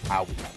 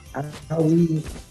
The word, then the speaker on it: Aoi: it's her name is pronounced Aoi. Aoi, excuse me. I was asking how to pronounce it. And Toby was like, "What do you say when you like scrape your knee or something?" Aoi.